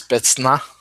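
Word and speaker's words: спецназ: If anyone wants to try to pronounce that, it's Spetsnaz.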